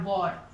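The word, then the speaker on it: war: डब्ल्यू ए आर वॉर, वॉर, वॉर means क्या होता है, युद्ध, ठीक है।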